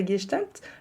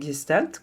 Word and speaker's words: Gestalt: ma bouche mais effectivement je le prononce à l'allemande en l'honneur du fondateur de la guestalt le neuropsychiatre et psychanalyste fréériich Salomon pels un juf allemand qui a beaucoup peu vré dans les années 50 bon si vous pronon c'est Gestalt comme ma maman bah c'est ok aussi en fait Gestalt ça